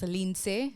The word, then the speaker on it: Lindsay: my name is pronounced Lin right Lin my mom is Haitian so she pronounces it with the accent and everything but after a while